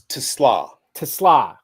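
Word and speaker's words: TeSlaa: this guy Isaac TLA it's TLA Tesla okay yeah Isaac TLA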